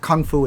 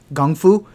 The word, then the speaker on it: gongfu: pronouncing it correctly and they make a big emphasis it's not kung fu it's gongfu um and it was just